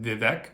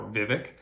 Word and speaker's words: Vivek: Now, some of you will pronounce it Vivek or Vivek.